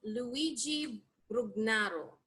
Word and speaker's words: Luigi Brugnaro: Because it's an Italian name, Luigi Brugnaro. Luigi Brugnaro.